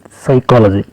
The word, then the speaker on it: psychology: answer is study pink P psychology psychology P silent p p so is psychology